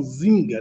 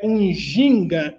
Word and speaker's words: Njinga: que não que não não é bom falar assim gás pronunciar expressão zynga né o termo correto é um ginga um diamante é isso